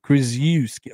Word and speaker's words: Krzyzewski: Mike Krzyzewski. Who's this? I think you're hitting the emphasis on the wrong syllable. Krzyzewski.